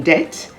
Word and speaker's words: debt: s-y-m-b-o-l symbol a-m-b-i-g-u-o-u-s ambiguous the b is silent before the letter t as in debt d e b t